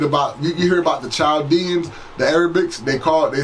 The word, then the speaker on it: Chaldean: When you read about, you hear about the Chaldeans, the Arabics, they say Chaldean. People in Iraq, you ask their nationality, I'm Chaldean. The H is silent in Arabic, okay?